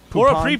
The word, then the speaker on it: Prepon: Prepon. Laura Prepon. I said Prepon. Oh, it doesn't matter. Laura Prepon.